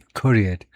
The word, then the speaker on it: excoriate: 두 번째 실레블의 액센트가 있는 건 맞는데 excoriate, x라고 할 거 없이 excoriate 앞에다 반모음으로 excoriate 하면 되겠네.